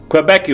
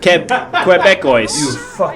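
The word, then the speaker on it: Québécois: ] pathetic yeah okay again quebecue voice you loser quebecois you loser that's how you say it here you say it like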